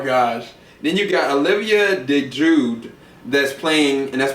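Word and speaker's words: Olivia DeJonge: kid oh my gosh then you got Olivia De Jude that's playing and that's spelled D EJ o n g that's playing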